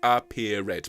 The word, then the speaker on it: appeared: And it is 3 syllables, appeared, please.